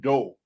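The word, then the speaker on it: Daut: There's a very good book written by a contemporary, a current Haitian scholar named Maureen Doe, who teaches at University of Virginia, where she has a compendium of the work of Baron de Vasté.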